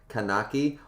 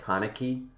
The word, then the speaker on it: Kaneki: tonic says i mean if we can nitpick pronunciation you are saying something more similar to kanaki while his name is kanaki i mean yeah i am but kanaki sounds cooler isn't it like kaneki kanaki sounds cool um i think it is